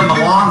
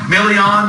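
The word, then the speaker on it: Milian: You got Christina Milan, is that Million? How do you say her name? Yeah. Million, you know, she loves the product.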